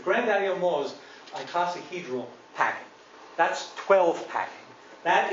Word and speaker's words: icosahedral: me a couple weeks to learn how to pronounce that the granddaddy of them all is icosahedral packing that's 12 packing that is a classic